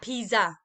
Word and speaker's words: pizza: our pizza okay but i don't think we're going to pronounce the zed sounds let's listen carefully now pizza la pisa okay play it one